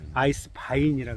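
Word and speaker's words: Eiswein: 아이스 와인이라 해서 아이스 바인이라 그래요. 와인인데 독일 발음은 W가 아자르 해서 아이스 와인이라고.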